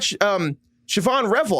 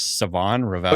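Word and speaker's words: Shavon Revel: They got Siobhan Revel. I might be saying his name wrong, but I think it's Siobhan Revel. I want to say his name's Savon Revel. Oh, yeah, sorry, it's Savon.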